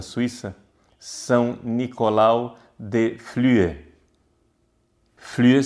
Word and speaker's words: Flüe: Flüe se escreve F-L-U-E com trema em cima do U. Flüe.